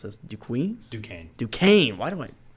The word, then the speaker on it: Duquesne: pronounce this do Queens Duquesne Duquesne why do I I see the cute and I want to make it I thought it was dunks the first time I saw it so yeah I mean